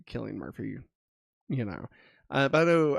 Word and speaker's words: Cillian Murphy: Cillian Murphy, I think is actually how you say his name, for Oppenheimer, and Jeffrey Wright for American Fiction.